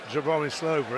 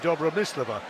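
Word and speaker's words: Dobromyslova: surname which of course from a Russian perspective wouldn't be Joey Slover it's be Dabra miss Leveaux and she said yeah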